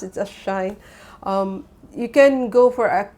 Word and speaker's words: Shein: They pronounce it as Shein.